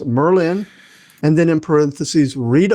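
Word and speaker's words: Myrlyn: And the comm my command this week is I pronounce it Merlin.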